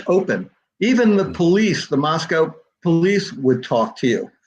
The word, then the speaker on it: Moscow: very early on that it's mosco to rhyme with Costco rather than like the town Russia oh wow I guess